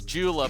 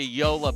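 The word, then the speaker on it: JOOLA: Folks, if you think you bought the new Ben Johns Jula paddle, you're not saying it right. It's a Yola paddle.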